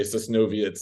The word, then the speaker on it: Sosnowiec: being like, okay, like, which Polish town rhymes with Soviets? Okay, Sosnowiec, like, like going through